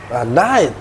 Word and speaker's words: night: Night, good. Jadi kayak gini aja, night. Ingat ya, saya nggak mau lagi dengar TT biasa, glotal dia. Night.